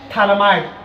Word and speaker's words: phthalimide: Gabriel phthalimide, pH is the silent letter.